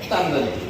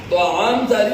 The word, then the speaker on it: তাআম জারি: খানা চালু করা, তাআম জারি, যেটাকে ওই শব্দটা আমরা আমাদের ভাষায় কইছি, এক অন্য ধরনের কই, আসল আরবি উচ্চারণ হয় না আমাদের, তামদারি। তাআম জারি ওইটাকে আমরা তামদারি করি।